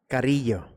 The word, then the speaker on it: Carrillo: Carrillo. Carrillo. Carrillo. I cannot. I can roll the R's, but I can't get that la noise in there.